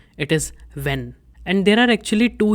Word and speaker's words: wenn: Its pronunciation is when. The way you pronounce the English word when, so in the same fashion, it is not vain, it is when.